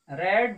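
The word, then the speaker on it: read: दोस्तों, स्पेलिंग तो हमने रीड का ही लिखा है, लेकिन यह रीड का सेकेंड फॉर्म, इसलिए इसको हम रीड को रेड बोलते हैं दोस्त, लेकिन स्पेलिंग वही रहती है, इसलिए थोड़ा सा उच्चारण चेंज करना पड़ता है।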